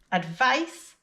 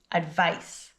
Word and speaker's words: advice: Advice is the noun. Focus on the pronunciation. Advice with the s sound at the end.